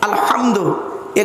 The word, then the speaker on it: আলহামদু: পড়ি আলহামদুলিল্লাহি রাব্বিল আলামিন আলহামদু এই গলার ভেতর থেকে হে এটা উচ্চারণ করবেন আলহামদু এর মানে হচ্ছে